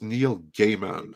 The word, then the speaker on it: Neil Gaiman: But he says Neil Gaiman.